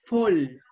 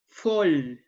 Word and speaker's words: fall: Otoño en inglés se dice fall. Fall. Fall. F-O-L. Fall. Se escribe fall. F-A-L-L. Pero se pronuncia fall.